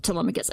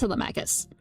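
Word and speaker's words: Telemachus: Um, but like I they mispronounced Telmacus in Epic and in the movie they pronounce it Tmicus. It's pronounced Telmacus.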